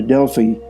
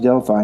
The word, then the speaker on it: Delphi: the Temple of Apollo near Delfy sometimes pronounced Delphi in English not much remains of